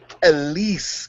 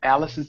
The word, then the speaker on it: Alice: got Elise, Queen of Molecular Gastronomy. That's pronounced Alice, baby.